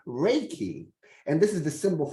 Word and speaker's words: Reiki: universal life force although the proper Japanese pronunciation is Reiki which has been westernized to Reiki um Rey means Universal